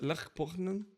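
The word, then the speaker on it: Lech Poznań: Okay, the football Olha, presta atenção na pronúncia. Lech Poznan.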